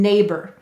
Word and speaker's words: neighbor: a and the or now why did the or sound like er and neighbor you're right or and ar may say they're schwa sounds er in an unstressed syllable so it's just saying